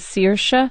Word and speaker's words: Saoirse: put her name is Saoirse Ronan Saoirse but actually the Irish way to pronounce it is Saoirse Saoirse Ronan and I